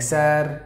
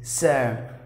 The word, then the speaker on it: sir: Some of us used to say like sir, sir, sir. It's not that way. It is sir.